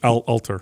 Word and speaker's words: Alter: and how I was Adam Atler. Yeah, it's Alter. Yeah, Alter. I said it wrong.